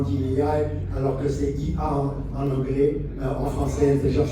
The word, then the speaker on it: IA: On prononce ça comme ça. IA. Magnifique, j'ai une belle audience. J'ai l'habitude d'entendre des gens dire AI.